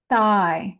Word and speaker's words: thigh: Thigh. Now, this is weird because it's spelled th h i g h. You don't even hear the gh. You just hear a long i.